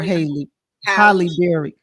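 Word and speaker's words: Halle Berry: I do not like butchering this woman named Hollyberry or Haley holberry so I do I said it right Holly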